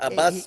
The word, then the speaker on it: Abass: it's Abbas Bara.